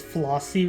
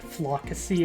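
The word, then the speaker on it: Floccesy: go to is it I always thought pronouncing my head is flossy Ranch but I realize like with the two C's is probably closer to like flocacy or something all right my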